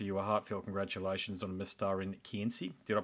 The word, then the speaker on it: Mestarin kynsi: So look, it's a fairly long opening statement there, but I really want to offer you a heartfelt congratulations on Mestarin kynsi. Did I pronounce that correctly?